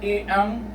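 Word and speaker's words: 이응: Okay, so always remember, if the E-ung, if you see E-ung prior to a vowel, it will have no sound, so you just have to pronounce the vowel.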